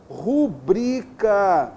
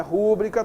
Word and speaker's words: rubrica: Além disso, vamos observar aqui, só para a gente poder lembrar, a palavra rubrica, não é rúbrica, toma cuidado, tá legal?